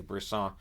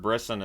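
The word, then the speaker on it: Brisson: slot shot that's held I'm glad to hear they're starting to say brisan I that's how it's always been pronounced but I've heard brisen as well that's why I was saying it that but anyways Vegas announcers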